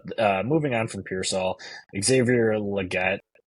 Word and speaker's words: Xavier Legette: church um but uh moving on from peol Xavier Legette right that's how you say his name um